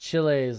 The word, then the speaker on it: Chiles: It's pronounced Chiles like it rhymes with Miles.